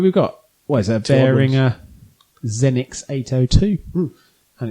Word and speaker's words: Behringer: Bearinger Zenix 802 and it's a very nice little I think Behringer but yeah Behringer. Behringer. It's got a H in it so I just wanted to pronounce it.